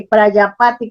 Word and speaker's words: Prajapati: Por eso hacían eso, así, Prayapati con J, Prayapati, quiere decir padre de la humanidad con en J. la India. Vale. Sí, Prajapati se escribe, Prajapati.